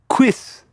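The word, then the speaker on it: cuisse: armor for the thigh it's pronounced quis quis hey G you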